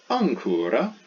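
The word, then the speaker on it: ἄγκυρα: Then we have ancura, where we have like an N, ancura, means anchor.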